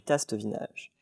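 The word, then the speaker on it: Tastevinage: nouvelle fois lauréat du tastevin âge et ce n'est pas une faute d'accent c'est la bonne prononciation en effet le marché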